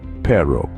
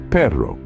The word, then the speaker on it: perro: where things get interesting the r in Spanish is rolled giving it a unique sound if you're new to Rolling your RS don't worry it's like the sound you make when you're imitating a motor or a purring cat try it out Ro